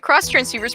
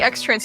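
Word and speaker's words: Xtransceiver: new every day yep just like uh the cross transceivers pronounce the cross transceiver but people still pronounce the x-trans even for some reason even though in black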